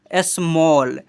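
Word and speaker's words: small: 51 जो है ना जब किसी वर्ड में ए के बाद डबल एल आए तो ए को औ से पढ़ते हैं।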